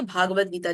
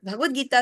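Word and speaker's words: भगवद्गीता: लिए आता है और भगवत गीता के लिए भगवत आता है कई लोग बोलने में भी इसके उच्चारण में इसको भागवत गीता कह देते हैं तो यह भागवत गीता नहीं है भगवत गीता और जो भागवत है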